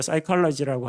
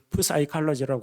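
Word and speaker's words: psychology: 아 우리가 사이로지라고 하지 프사이칼로지라고 하지 않는 것처럼 톨레미 왕과 이집트 쪽을 차지하게 됩니다.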